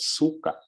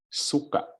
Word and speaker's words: suka: it Suka Suka okay do not say Suka because Suka has a different meaning it's like puke or vomit but if it's vinegar you say Suka so you really have to emphasize the gloal Stu on the last syllable okay and then we